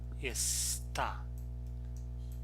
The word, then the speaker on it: está: Notice that here está. The stress syllable is the last one.